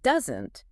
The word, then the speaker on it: doesn't: And doesn't has the stress on the first syllable. Doesn't.